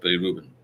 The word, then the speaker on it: bilirubin: Speak to the doctor about that bilirubin. That's how you pronounce it.